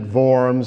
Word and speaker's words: Worms: sermon a few years after the diet of worms it's one of the most unfortunate words to describe a diet but uh the Germans pronounce it VMS so the diet of worms the diet of